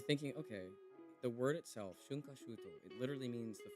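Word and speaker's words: 春夏秋冬: The word is pronounced shunkashuto.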